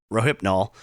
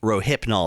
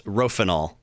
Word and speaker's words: Rohypnol: the Wind I'm sorry I realized I mispronounced Rohypnol the first time as rofanol someone please start a